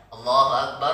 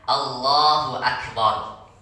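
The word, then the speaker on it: الله أكبر: Jadi bacanya Allahu Akbar, ya, bukan Allahu Akbar. Nah, kita dengar Allahu Akbar, Allahu Akbar, ada bacaan itu kan. Nah, jadi kita benarkan bacanya Allahu Akbar, ya, ro-nya tebal, ya, bukan ek.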